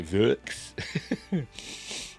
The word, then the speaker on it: Võx: So how do you pronounce it there? Vox.